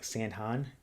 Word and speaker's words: Sandhan: mispronouncing your name but let me know if i'm saying sandhan is that correct correct um give me an